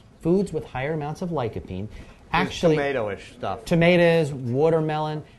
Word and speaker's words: lycopene: Lycopene, yes. Also in your book. Obviously, I've read the book, but not pronounced.